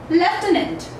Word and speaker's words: lieutenant: Okay, let's talk first about the British pronunciation that we have. It goes like lieutenant, lieutenant, lieutenant. Okay, so here comes the F sound in this pronunciation. Lieutenant, lieutenant. Repeat several times so that you are able to nail this pronunciation. Okay, now the American pronunciation goes like lieutenant, lieutenant, lieutenant. So the sound kind of goes like oo.